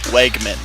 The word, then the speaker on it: Wegman: It's pronounced Wegman. Wegman? Wegman. Okay, Wegman, not Wiegman.